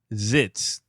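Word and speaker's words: Zitz: the most I think no no not Ritz not it's not Ritz zits zits oh my God getting everybody's name wrong yeah yeah it's zits so it's rash zits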